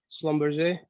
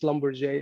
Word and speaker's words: Schlumberger: SG: Yeah, actually, well, I am no longer with Schlumberger. And, it's pronounced Schlumberger actually. It's a French name.